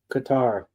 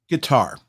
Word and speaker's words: Qatar: It's Qatar. Guitar. Okay, that I was pronouncing it right.